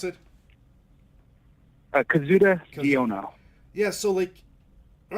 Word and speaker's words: Kazuda Xiono: And you voice Kazuto, right? Is that how would you pronounce it? Kazuda Xiono.